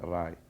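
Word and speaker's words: Raï: In Morocco we say it like Rai.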